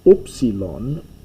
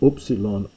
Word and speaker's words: upsilon: an U sound, and by Koine Greek times it comes to be pronounced like I, unfortunately. It's moving towards, in modern Greek, a lot of the vowels have become I sounds, and upsilon, U, has moved more